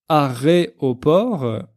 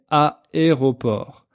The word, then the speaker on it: aéroport: D'ailleurs, j'en profite pour faire une petite précision sur la prononciation, parce que parfois j'entends certains de mes élèves dire aéroport, mais en français on dit pas aéroport, mais aéroport. Aéroport.